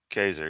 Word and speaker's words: Caesar: They weren't called Caesars, you dumb Caesar is the name of one Roman emperor, and it's pronounced with a hard C, by the way. Ker.